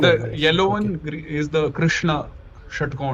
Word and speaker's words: Krishna: Sh s clear or sh clearrishna thirdrishnaishrishna generally tongue is a bit lazy so rather you know third pronounce Krishna. Krishna.